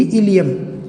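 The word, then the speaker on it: ilium: ठीक, इलियम हमारे बॉडी में बेटा ये टर्म भी आता, ILE की जगह IUM, ये भी इलियम, दोनों को इलियम ही पढ़ा जाता है।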